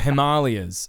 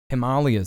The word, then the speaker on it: Himalayas: a major new report Himalayas so that's what most people pronounce is the Himalayas Himalayas that's how you actually say it chat every day's a